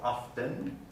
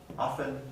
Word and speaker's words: often: by consonant clusters so often but both are correct so if you're trying to decide which to pronounce you don't need to worry about it both of them are correct often often and it's not as